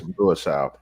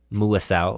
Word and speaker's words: Muasau: say it Brandon Coleman Darius Mau did I say that kind of close or how do you say that close enough that's close enough there's muasau muasau okay there you go and